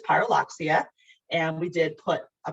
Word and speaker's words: Pyrrhuloxia: page and you're like how the heck do i say this but it is pyroloxia and we did put